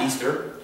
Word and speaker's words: Ishtar: I-S-H-T-A-R is actually pronounced Easter from the Babylonians.